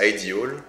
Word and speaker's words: IDEAL: Idéal, ici, là, ça veut dire, ça se prononce ideal, et c'est en fait